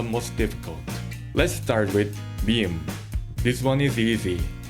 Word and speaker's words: ㅁ: If you can pronounce the English M sound, you can already pronounce mium. Just remember one thing, Korean speakers don't usually hold this sound for very long.